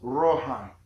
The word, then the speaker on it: Rohai: Now, in the English language, we pronounce it Lo, L-O, Hai, H-A-I. But traditionally, it was pronounced Rohai, with a rolling R, Rohai, Rohai.